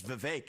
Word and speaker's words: Vivek: I say my name's Vivek. It rhymes with cake.